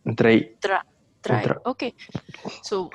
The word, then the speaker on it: drei: Drain. Drei.